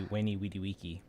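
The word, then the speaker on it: veni, vidi, vici: Veni Vidi Vici. Actually, in Latin, that would probably be Veni Vidi Vici. Because in Latin, the V's are actually pronounced like W's. It's not Italian.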